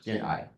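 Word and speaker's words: jiān'ài: that the most idea of jian'ai or jian'ai, pronunciation, jian'ai, which equals the idea of to love without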